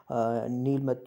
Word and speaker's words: Nilamata: में रखना है कि जैसे यहाँ है NILAMATA, सो ए जो साइलेंट रहेगा और PURANA साइलेंट रहेगा. सो उसी हिसाब से आप इसको नीलमत जो है पुराण आप इसको प्रोनाउंस करेंगे.